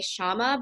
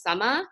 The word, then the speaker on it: Shama: Summa so in India like the SH sound doesn't really exist so like my my name like when I'm speaking to people in America I say Shama but the way that my parents pronounce my name is sama so it's like the